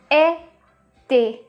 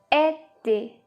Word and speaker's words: été: So every time you see E accent aigu, that means it has to be pronounced like A.